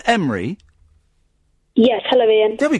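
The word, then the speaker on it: Emre: Is your name Emery? Yes, hello, Ian. There we go. Did we pronounce that?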